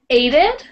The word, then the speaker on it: aided: It's spelled like A-I-D-E-D. Aided, yeah. So it's sort of tricky. It's hard to say quickly, but you really have to open your mouth and stick those D's. So aided.